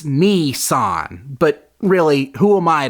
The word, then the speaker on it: Nissan: they let this guy mispronounce Nissan the entire movie it's Nissan but really who am